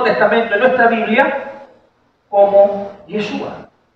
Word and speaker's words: Yeshua: o yeshua en eh más o menos la pronunciación en hebreo sería yeshua eh se registra más